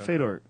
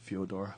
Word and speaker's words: Fyodor: But Fedor, gotta be honest, Fyodor.